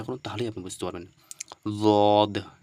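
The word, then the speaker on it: ض: না মাড়ির দাঁতগুলো রয়েছে তো মাড়ির দাঁতের সঙ্গে কি করতে হবে টাচ করে দিতে হবে তাহলে কি হবে দ উচ্চার হবে একটু ট্রাই করুন চেষ্টা করুন তাহলেই আপনি বুঝতে পারবেন দদ কি দদ দদ ঠিক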